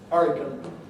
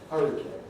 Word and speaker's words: hurricane: so this is different this is a spelling pronunciation coming in the spelling suggests came and that has presumably been one of the factors that has led people to move away from the traditional pronunciation hurricane in the direction of the one that agrees with the spelling hurricane but this is what